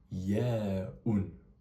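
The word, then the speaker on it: ياء: Cette lettre traduit la lettre i comme j'ai dit précédemment, elle se prononce en arabe ya avec un comme si tu mettais un y au début du mot, ça fait répète après moi.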